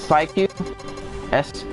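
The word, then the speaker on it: Psyqui: girl guy but it's it's pronounced psychic test psy q UI thank you yeah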